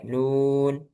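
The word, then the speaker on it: نون: Nah, ini yang membedakan hurufnya sama gitu ya. Cara membacanya sesuai huruf hijaiyah. Jadi kalau nun dibaca nun bukan na ya, bukan berharakat tapi dibaca hurufnya. Nun, huruf nun. Kalau qof, qof gitu ya,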